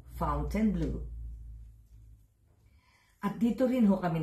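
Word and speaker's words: Fontainebleau: sa Las Vegas Nevada ito ho ay isang French word na kung i-pronounce ko nila ay fountain blue Pero dito ho sa Vegas fountain blue at dito rin ho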